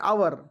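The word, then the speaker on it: hour: इसके अंदर बच्चों देखिए हा साइलेंट होता है इसको बोलते हैं अवर इसी के चलते अगर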